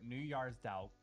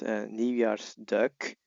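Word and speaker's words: Nieuwjaarsduik: So I will add here it's New Year's duck like the K at the end is is very important to pronunciate properly.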